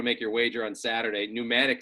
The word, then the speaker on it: Pneumatic: your wager on Saturday, Pneumatic spelled with a P, a silent P in front.